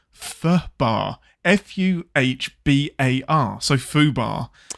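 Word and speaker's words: FUBAR: So it should be FUHBAR. FUHBAR. It should be FUHBAR, and it's a shame because that's an easy one.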